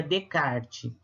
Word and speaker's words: Descartes: do filósofo rené descartes na verdade se escreve descartes mas se pronuncia de card the card é viu